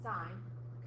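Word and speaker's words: sine: these ratios sign spelled like s but you pronounce it sign coine is just C and tent is just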